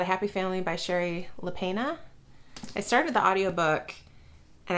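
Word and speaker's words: Lapena: happy family by Sherry lepena I started the audiobook and I think the narrator pronounced it lepena it wasn't lapina I think it was like lepena and this was supposed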